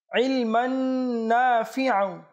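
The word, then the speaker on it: عِلْمًا: আল্লাহুম্মা আসলুকা আল্লাহুম্মা আসলুকা ইলমান দর্শক শ্রোতা এখানে যে ইলমান রয়েছে এখানে অক্ষরটি হচ্ছে আইন অনেকে আবার ইলমান পড়বে অর্থাৎ হামজা উচ্চারণ করবে তো এটা সঠিক নয় বরঞ্চ সঠিক হচ্ছে আইন অর্থাৎ আমরা আবারো পাঠ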